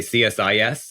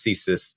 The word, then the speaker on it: CSIS: report together so um we do not usually pronounce our acronym we do say CS is um so not to have any confusion with your uh intelligence service but certainly it could be pronounced as cus um as well we do all